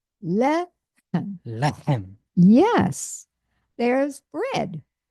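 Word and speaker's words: לֶחֶם: And the accents on the first syllable. Le. Lehem. Okay, now say it with the accent on the first syllable. Lechem. Lechem. Yes, there's bread. Lechem.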